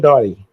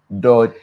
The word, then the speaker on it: Dartey: Kojo Dory. Dolly. Dory. Dartey. Oh, your T, I didn't hear it in your pronunciation.